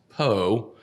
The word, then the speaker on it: Pou: And then Pou is always pronounced Poe. By people, it is. right? It is. Is that, yes. is that the one you get the most? Everyone says Poe, yeah.